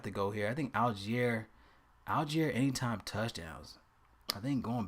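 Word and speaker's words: Allgeier: Okay, how you pronounce his damn name? Algier. Okay. I wasn't that bad. Algier.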